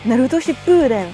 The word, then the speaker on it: Shippuden: Ensuite, Ship, on retient on allonge, Den. Naruto Shippuden.